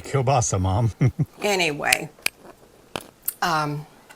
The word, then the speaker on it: kielbasa: to be baking a kebasi linguine casserole I'm sure I pronounced that wrong Greg will tell me about it I'm sure that would be kielbasa mom anyway um it's